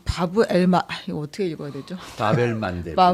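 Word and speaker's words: باب المندب: 저도 뭐 정확한 발음은 모르지만 이제 아라바 전공하시는 교수님께 어쭤봤더니 바벨만데부 예 그래서 눈물의 문이라는 뜻이라고 합니다.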